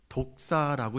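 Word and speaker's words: δόξα: 이렇게 표현을 하는데 여러분 영광이라는 헬라어 단어를 독사라고 읽어요. 독사라고 읽 헬라어 단어예요.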